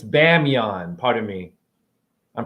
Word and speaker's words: Bamiyan: okay hold on hold on it's bae it's bamiyan pardon me i'm pronouncing it wrong i think hold on hold on hold on bamiyan b-a-m-i-y-a-n okay pardon me so here it is